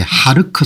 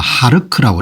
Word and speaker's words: 하르크: 그럼 이제 유가가 폭등하거나 그런 부분이 있으니까 미국도 이 부분까지 KHARG 아일랜드라 부르는데 이 발음을 아마 하르크라고 이렇게 부르는 모양입니다.